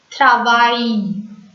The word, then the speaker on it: travail: AIL in French is pronounced as I. I-E. Travail. Travail.